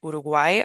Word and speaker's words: Uruguay: with Spanish pronunciation and uruguay are really good ones to practicement uruguay especially uruguay because we have that u that's tricky especially if you come from English where you want to say you instead of oo